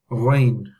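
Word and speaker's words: غين: The next letter in question we will do is ghain. Where's my cursor gone? Here we go. Ghain. Ghain is like a gargle sound. It's not in English.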